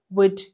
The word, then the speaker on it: would: all will you ሳይሆን l is silent okay would you could should ብለን ነው የምናነበው እንጂ l we don't read l would እና should እና could ጋር ማለት ነው ስለዚህ